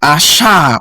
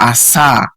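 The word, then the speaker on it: עשה: So asha or asa, whether you want to pronounce it, means it's a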